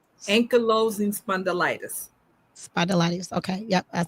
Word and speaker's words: Ankylosing spondylitis: And not only do we have our lupus warrior, amongst other things, we were discussing lupus and spidolitis. Did I say it right? Ankylosing spondylitis.